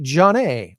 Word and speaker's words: Jonet: Lifescape Services RSVP Director Carly Jonet, or Jonette. It's Jonet. So we'll see if she likes to pronounce it the French way or the Hooked on Phonics way.